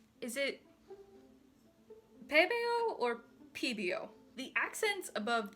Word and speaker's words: Pebeo: is it pebeo or pbo the accents above the ease make me think it's pebeo but everyone i've heard pronounce it says it pbo i'm going to pronounce it pebeo hey y'all it's alex